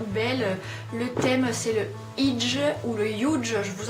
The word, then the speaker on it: hygge: le Huge ou le Huge. Alors pour votre information, ça s'écrit Huge, H-Y-2-G-E, mais on le prononce Huge.